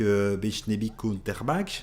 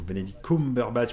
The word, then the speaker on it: Benedict Cumberbatch: toujours, en tout cas c'est ce format-là, avec Bechnebi Cumberbatch, c'est ça, hein Ouais, le concombre sous bâche. Moi, je Voilà, l'appelle comme c'est ça. ça. Le pauvre Benedict Cumberbatch, parce qu'il le mérite, qu'on prononce bien son